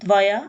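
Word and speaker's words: твоя: आपकी माँ, त्वोया मामा, टी-वी-ओ-वाई-ए, यहाँ, 'या' पर जोर देने के कारण, इससे पहले वाले स्वर की ध्वनि बदल जाती है। 'O' 'a' बन जाता है।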